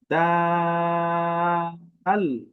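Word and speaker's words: دال: যদি উচ্চারণটা দেখি একদমই সহজ বাংলায় যেরকম দ আছে হ্যা দ ঠিক এই দর মত উচ্চারণ হয় আলাদা কোন কোন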